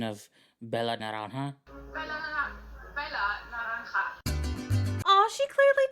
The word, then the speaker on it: Bella naranja: Not only was she Star Baker, but she fucking nailed the pronunciation of Bella Naranja.